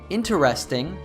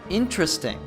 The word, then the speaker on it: interesting: finds special and interesting while the most correct pronunciation which you probably learned in school of this word is interesting natives both americans and brits like emma often shorten it so it sounds like interesting notice that it goes